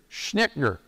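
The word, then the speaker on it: Schnittjer: Again, I want to mention here a book by a guy by the name of Gary Schnickner. Let me spell that for you, because it's very strange in my view.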